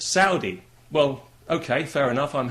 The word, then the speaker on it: Saudi: me you know you're you're pronouncing that wrong it's not sordi it's Saudi well okay fair enough I'm happy to pronounce it Saudi I'd be even happier